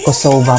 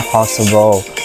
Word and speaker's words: Kosova: Baka nawala lang sa memory no Kova ah Kosova pala pag-pronounce niyan. Hindi pala Kosovo. Kosovo ganon.